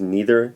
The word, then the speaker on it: neither: The first correlative conjunction that I'll explain is neither nor. The word neither can also be pronounced neither, so you can say neither nor or neither nor. Both pronunciations are acceptable.